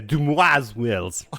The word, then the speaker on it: Dumai's Wells: I think it's pronounced like the French would say, Dumai's Wells.